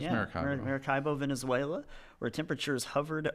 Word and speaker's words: Maracaibo: Says years ago lived in, oh my gosh, I don't know how to pronounce this. Maracaibo? Maracaibo? I think it's Yeah, Maracaibo.